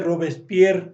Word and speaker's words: Robespierre: que pues dejamos a Robespier eh Muy entiendo que se dice Robespier, así lo hemos escuchado siempre, aunque se escribe Robespierre y lo dejamos muy mal parado y pues no nos quedamos contentos.